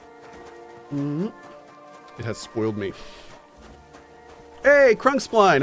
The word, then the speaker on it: Crunkspline: Although, did I pronounce that incorrectly? Is it Crunkspleen? I think we corrected this at one point, but it's been a while. Okay. It is spleen.